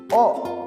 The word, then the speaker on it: を: Nah di sini contohnya hong o misete kudasai, tolong perlihatkan bukunya.